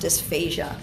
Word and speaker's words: dysphasia: difficulty swallowing so remember if it's spelled with an S it means difficulty singing and that's pronounced dysphasia so there's a couple